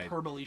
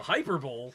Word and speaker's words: hyperbole: hyperbole. Shut up. A Hyperbowl? Yes. A hyperbole? Is that like one of those space-time continuum things? You're putting the wrong emphasis on the wrong syllable.